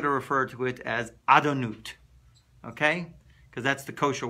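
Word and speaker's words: Adonai: And you're going to say, of course, you're going to pronounce it Adonut. That's the way you pronounce it.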